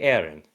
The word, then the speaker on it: Eren: You may call me Aaron.